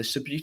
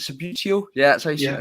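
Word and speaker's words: Subbuteo: Signed Richie Byrne match-worn boots and a lovely print of the Subutio. Is it Subutio? Yeah, that's how you say it. Yeah, I've said it right.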